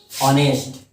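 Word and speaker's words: honest: ऑनेस्ट, ऑनेस्ट में देखिए एच क्या है? कॉन्सोनेंट। एच है क्या है? हमारा कॉन्सोनेंट है। लेकिन और इसको प्रोनाउंसिएट कैसे करते हैं? ऑनेस्ट, ऑनेस्ट, ऑनेस्ट प्रोनाउंसिएट करते हैं।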